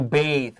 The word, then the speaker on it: bathe: two bathe uh and that's b-a-t-h with an e at the end and this is a long a to bathe but this is a